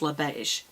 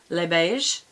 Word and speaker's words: Les Beiges: But you don't pronounce the S's, so it's Le Beige. Or Le is L-E. Lay is L-E-S, so Le Beige.